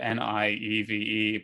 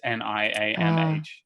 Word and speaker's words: Niamh: think I'm still like they spelled it Nieve, but it's Niamh.